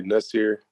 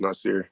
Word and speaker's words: Nassir: um if you like casually people say nasir which is cool as well but formally it's pronounced nicer yeah okay does that